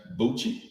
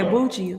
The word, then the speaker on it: Bucci: That's Bucci. Like okay. Gucci, but that's Gucci. He's saying Gucci. Okay, Bucci, like Gucci.